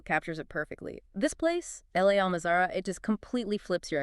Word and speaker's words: La Almazara: We've got this fantastic article by Clive from Ronda today about a place called L.A. Almazara. That's LA, pronounced like Spanish la, by the way. La Almazara.